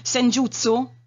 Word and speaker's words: Senjutsu: Senjutsu? Sì. Si pronuncia così? Sì.